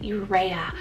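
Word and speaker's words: Ireya: then I have the name irea spell i-r-e-y-a urea I love the spelling and the look of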